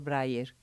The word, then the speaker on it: Braier: de recibir el día de hoy a Flor Bryer. ¿Está bien pronunciado tu apellido?